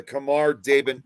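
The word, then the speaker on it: Khamar-Daban: Yeah, the Kamar Dabin incident. That's how it's pronounced.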